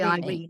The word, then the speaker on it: Irene: It's actually Irene, it's pronounced.